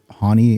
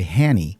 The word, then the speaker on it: Hany: Hany is how you say my name, but some people say Hany. Yes. Because in the Middle East, that's how it's pronounced. It's not wrong, but I think the same is with you.